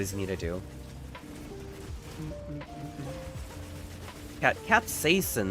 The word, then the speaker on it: capsaicin: Capsaicin, that's what it's pronounced, not capsin.